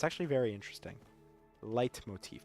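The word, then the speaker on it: leitmotif: it's actually very interesting light Motif but it's spelled I I think l e t Motif just puzzle after puzzle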